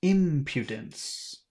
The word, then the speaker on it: impudence: strong as in impudence impudence okay impudence PE impudence not po Pew oh sorry PE impudence